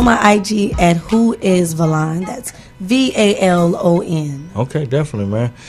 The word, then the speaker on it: Valon: It's pronounced Valon. Valon. It's an Albanian name.